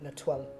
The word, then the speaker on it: Letoile: So you have so if you want to try and pronounce it, Letoile and Dessus.